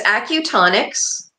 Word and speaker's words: acutonics: Auto it well there's it's acutonics ACU for acupuncture tonics for the tones and I'm um I